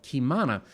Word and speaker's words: Qimana: Today, Chris is the co-founder of a company called Kimana, which is spelled Qimana.